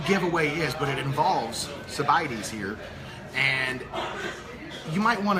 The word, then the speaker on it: Sabaidees: It's Sabaidees, like buy me a cup of coffee.